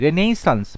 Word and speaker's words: Renaissance: তুমি যদি বানানটা সঠিক করতে চাও তাহলে RENAISSANC, রেনেসান্স মানে নবজাগরণ। তাই অপশন বি হবে রাইট আনসার। উচ্চারণটা হচ্ছে রেনেসাঁ, কিন্তু বানানের ক্ষেত্রে রেনেসান্স এরকমভাবে মনে রাখবে, তাহলে ইজি হবে বানানটা করতে।